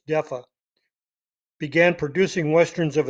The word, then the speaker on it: DEFA: 4 years later, the East German DEFA, spelled capital D, capital E, capital F, capital A, I always pronounced it DEFA, but it's DEFA, began producing Westerns of its own.